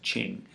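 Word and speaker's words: Qing: as the Ching Dynasty it's spelled with a Q pronounced Ching Dynasty uh it grows to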